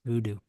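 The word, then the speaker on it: Vudu: Voodoo yeah V du is that how it's pronounced Voodoo yes Voodoo yes love him shout out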